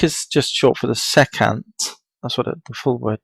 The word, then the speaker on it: secant: Sec is just short for the secant. That's what the full word means, says. That's how it's spelled, yeah, pronounced.